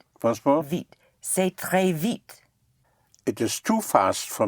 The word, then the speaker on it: vite: How would you pronounce V-I-T-E?